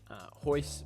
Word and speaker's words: Royce: Royce with an R. Rickson is also with an R. That's just how they say it in Brazilian Portuguese.